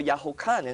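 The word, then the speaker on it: Yohanan: view or this or yaho Kanan is the proper way you pronounce his name chapter 5 verses 24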